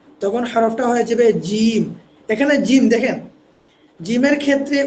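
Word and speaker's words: جيم: এখানে এসে একটু পার্থক্য। অর্থাৎ প্রথমে যে আমরা তিনটা হরফ তিনটা হরফ পড়লাম বা তা এগুলো থেকে এক আলিফ লম্বা হবে। কিন্তু আমরা যখন জিমে চলে আসবো তখন কিন্তু এই হরফটা হয়ে যাবে তিন আলিফ।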